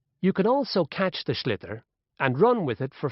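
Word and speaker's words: sliotar: this ball called a slither that's SL i OT a or so it's not spelled the way it's pronounced u hisses into the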